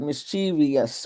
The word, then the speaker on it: mischievous: But if you look at it on the screen, you'll see that it is spelled v o u s on the end, not v i o u s. So the word has three syllables.